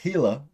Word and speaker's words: Gila: like and uh uh Gila monster which also is supposed to be pronounced hila Gila monster uh is